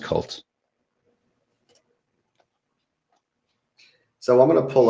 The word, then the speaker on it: KVLT: KVLT. Yeah, it's just pronounced. It's pronounced Cult.